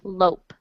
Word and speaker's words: lope: yes yes lope actually you don't pronounce the second syllable it's just lope so in english when